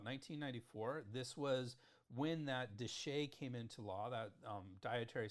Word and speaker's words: DSHEA: If you want to know more about DSHEA, and I pronounce it DSHEA, I don't know if other people do, but I have a tendency to pronounce my acronyms.